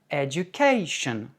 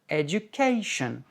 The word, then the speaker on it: education: Par exemple, en anglais, on dit education, information. Donc, alors qu'en français, on dit information, éducation, en anglais, information, education. Donc, c'est uniquement une histoire de hauteur de voix.